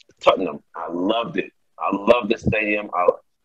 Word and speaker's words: Tottenham: That's right, Tottenham, Tottenham, I loved it.